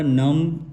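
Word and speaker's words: numb: इसको उसके बाद लब्ज आता जाता है हमारा नम एन य एम बी नम नम क्लाइम सी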